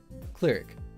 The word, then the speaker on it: cleric: like um cleric yeah cleric you know have you ever done clerical work it it it's a